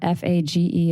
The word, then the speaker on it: Fage: F A G E is how it's spelled, but it's said Fage.